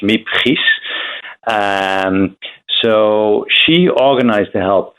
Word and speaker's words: Miep Gies: her name is, and I will pronounce it in Dutch, Miep Gies.